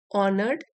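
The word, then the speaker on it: honoured: थे the king ऑनर्ड H silent है इसमें ऑनर्ड the king ऑनर्ड हिज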